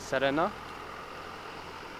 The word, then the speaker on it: Serena: And I think the Serena, like this, or Serena, I guess some people would call it Serena, but in Japanese you would pronounce it Serena.